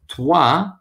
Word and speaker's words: toi: So toi, T-O-I, has that wa sound, whereas tu is different.